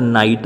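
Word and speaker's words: knight: आगर जो तमे के जोड़ी दो तो स्पेलिंग बनशे एनो उच्चार नाइट ज थशे, के नो उच्चार नहीं थाय।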